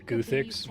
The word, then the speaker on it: Guthix: the blue was a somebody made fun of me for pronouncing gothic's guthix but they've never played the game with voice acting combat s that's cool